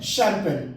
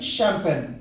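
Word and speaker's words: champagne: तो इसका उच्चारण क्या सही है? शैंपेन। इसको हम क्या पढ़ते हैं? शैंपेन।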